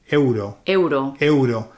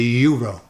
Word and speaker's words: euro: that we pronounce everything same as the word Euro the Euro so here you've got to pronounce the A and then you've got to pronounce the U so you got to say eooo so you got to a you can't say uro it won't work and another one that